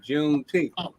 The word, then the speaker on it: Juneteenth: said June what and then they explained how they pronounced it juneth June 19th like oh okay and